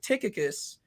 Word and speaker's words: Tychicus: i was like it sounds like tychicus and i know that's a biblical character but i wasn't sure and so i had to go on imdb and i had to like look it up and sure enough it was like tickets i was like okay uh it's just something about how they pronounced it it kind of threw me off but pronunciation is kind